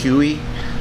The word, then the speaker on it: Huyghe: called hughes brewery you i don't even know how it's properly pronounced but i think it's huey belgium h-u-g-h-y-e h-u-y-g-h-e you